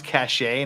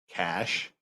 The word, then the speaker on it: cache: know how to pronounce cache now I do uh cash not cache cash cache because now